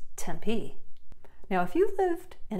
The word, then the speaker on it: Tempe: of ASU is located it's not temp per tenpai it's Tempe now if you've lived